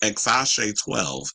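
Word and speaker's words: X Æ A-Xii: It's actually pronounced Exashe 12.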